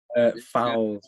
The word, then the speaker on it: Foles: Now I have the members of the band, Connor Lohman and Declan Foles. Did I pronounce that properly? Fowles, but yeah. Foul. That's right.